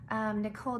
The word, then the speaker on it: Nikol: Her name is spelled Nikol. Nicole Johnson.